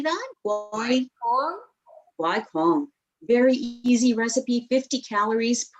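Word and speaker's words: gỏi cuốn: Guai Quong.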